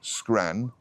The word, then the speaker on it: scran: really full yeah pronunciation it rhymes with Ran So scran ran okay quite a simple